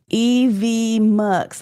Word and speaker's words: EVMS: on some things too EVMS I asked Chris how to pronounce it evm so that's how you pronounce it okay thank you